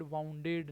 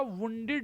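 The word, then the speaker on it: wounded: वाउंड का second form वाउंडेड, वाउंडेड नहीं, pronunciation होगा वुंडेड, वुंडेड, वुंडेड, वाउंडेड नहीं, वुंडेड, वुंडेड।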